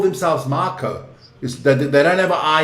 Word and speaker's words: Mako: I got to say it like the New Zealanders say cuz when I say Mako for me it's a Makeo shock, right? But they say Marco.